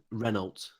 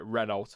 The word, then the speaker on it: Renault: that says alpine yeah it's like people that say uh reynolds and reno yes reynolds there i know that one winds me up so i yeah i'd